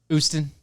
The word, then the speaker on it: Houston: Oostin. One of the Oostin. The Oostin. Right. You're classy if you don't say the H.